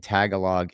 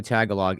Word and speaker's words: Tagalog: Adrian, I believe that the G in Tagalog is silent. Okay, so it looks like maybe we had some misspellings. Here we go. Here we go. Pam might have it. My first finance was Filipino, so I know Tagalog is pronounced T's Tagalo.